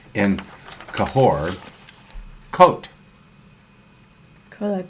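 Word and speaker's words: Côt: they say in cahor coat kakal K kutal how do you pronounce coot is it coat Co no you you don't put the just coot is just co co co co okay uh that's what they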